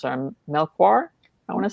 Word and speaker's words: Melchior: Elba, and Danielle I don't know how to pronounce her. Melchior, I want to say. She's Portuguese. Daniela Melchior.